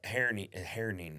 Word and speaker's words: Herning: And I'm not going in the fall for the festival, but I got asked to go over in April to Herning is how you say it.